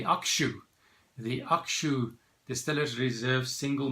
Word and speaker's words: Hakushu: going to review today hakuchu single malt hakushi distillers reserved single malt from japan from the hakuchu distillery if you want to pronounce it the way that the Japanese do you would say Akshay the actual distillers reserved